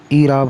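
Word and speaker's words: اعراب: ईराब होगा। Option number 4 इसका right answer होगा, ईराब होगा, यानी अलिफ के नीचे जेर होगी।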